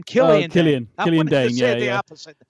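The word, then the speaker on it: Killian Dain: there, and then Nikki Cross's real life husband, Dillian. What was his name? Boy, I'm saying it wrong. What was his name? Killian Dane.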